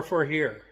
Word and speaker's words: FOHERE: I asked how to pronounce that, and they said it's kind of like is this to go or FOHERE?